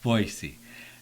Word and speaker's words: Boise: And when I lived in Boise, I was told that that's how you say it. You say the word boy and then you say the letter C. Boise.